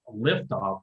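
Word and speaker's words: Lyftogt: get out there and google it's liftoff but he spells his last name it's dr lyft uh lift off his wave but it's spelled l-y-f-t-o-g-t and i started uh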